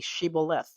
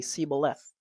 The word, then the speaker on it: Shibboleth: If he said no, then they should say to him, then say, "Shibboleth, Shibboleth." And he would say, "Siboleth," for he could not pronounce it right.